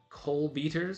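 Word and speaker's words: Kolbítar: And they are both members of this society called the Coal Beaters, I think is the actual correct pronunciation of it.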